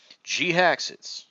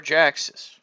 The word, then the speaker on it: Jhiaxus: From the Generations line, we are taking a look at Jhiaxus, or Jhiaxus. I've heard it's been pronounced both ways.